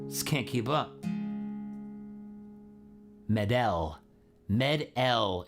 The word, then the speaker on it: Medel: Med-L is how you say Medel. last name. Med-L. Med-L. Okay. We can make, I can, it's like French.